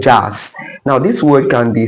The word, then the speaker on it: jass: The word is pronounced jazz, and the pronunciation is jazz, and also the spelling is JASS.